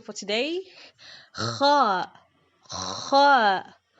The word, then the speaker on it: خ: Kha is one of the letters that doesn't have a counterpart in English. Non-Arabic speakers usually pronounce it with a sound similar to the English letter K, but K is the counterpart of a different Arabic letter called Kaf.